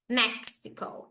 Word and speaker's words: Mexico: a pronúncia do inglês na pronúncia do inglês esse X é o Mexico Mexico come on mexican mexan